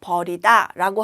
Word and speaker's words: 벌이다: 벌이다라고 쓸 때는 소리는 어 버리다와 같은데 여기 긴 소리를내는 거예요. 그래서 버리다라고 하면 됩니다.